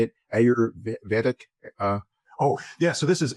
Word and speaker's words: Ayurvedic: Ayurvedic? Oh, yeah. So this is Ayurvedic medicine.